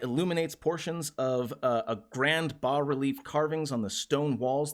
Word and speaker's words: bas-relief: It's boss relief. Is it boss? I don't know. It is boss.